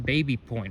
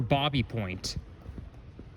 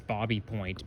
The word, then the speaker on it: Baby Point: Now let's go up to Baby Point, or Bobby Point. Believe it or not, the real pronunciation for that neighborhood is Bobby Point, because it's basically a French name.